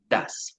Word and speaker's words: does: Das. Como está escrito acá, does. Se pronuncia das.